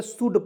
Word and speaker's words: should: यहाँ देखिए सू, एल से ल, डी से ल, शुल्ड पढ़ेंगे, बिल्कुल गलत, शुल्ड नहीं पढ़ेंगे, शुड पढ़ेंगे।